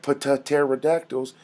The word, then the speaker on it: pterodactyls: It's like pterodactyls, and they're like the P silent.